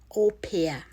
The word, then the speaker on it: au pair: So I will write that because it's a French terminology, and probably when you see it, even you may not think it is pronounced as I'm putting it here, but simply au pair